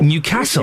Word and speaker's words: Newcastle: Cuz we don't down here down south, we say Newcastle, but of course it's not Newcastle. It's Newcastle. It's not even Newcastle. It's Newcastle. Newcastle. You put the weight on the castle. Newcastle.